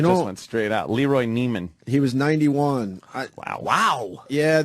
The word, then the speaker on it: Neiman: Nivens. Is it Nivens or? Oh, Neiman.